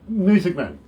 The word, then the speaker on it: Muessigmann: Muessigmann. Yep, I haven't mispronounced that in any way.